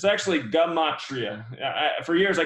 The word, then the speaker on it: gematria: It's pronounced So gematria. yeah, it's actually gematria. For years, I called it gematria until somebody finally corrected me, but came across